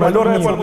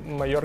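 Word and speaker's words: Mallorca: Це просто питання вимови. Майорка, Мальорка, команда Мальорка, а острів Майорка.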